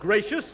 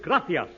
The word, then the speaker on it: gracias: No, not gracious. That word is gracias. You see, in Spanish, the C is pronounced TH.